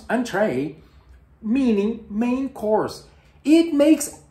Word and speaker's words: entrée: Entrée in French means appetizer, but you use the word entrée in French, which you pronounce entrée, meaning main course.